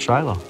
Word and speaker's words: Shiloh: found this year at Shiloh it's been a good season I absolutely love being at this site here in Shiloh or as the proper pronunciation is Shilo and Shiloh is used